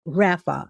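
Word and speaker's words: raphah: Now, let's consciously shift Our conscious shift word today is called Rafa. It's spelled R A P H A H.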